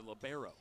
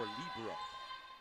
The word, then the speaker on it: libero: Skips the setter, Barlow the libero. Or libero, whichever pronunciation you prefer.